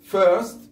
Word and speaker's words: first: أيضا بالماضي لاحظ went، met، first، لا نقول first، first كان الآر ما تنفض، first أولا.